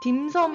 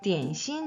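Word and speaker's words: 点心: 이 딤섬 이라는 표현 중국 사람한테 가서 딤섬 이라고 얘기하면 못 알아듣는 경우가 더 많아요 그래서 깨신 딘 시인 이라고 발음을 해 주셔야 되요 자 우리 조 재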